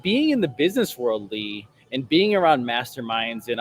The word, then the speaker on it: Leigh: don't know me well my Mommy gave me extra letters in my first name so it's pronounced Le but it's spelled with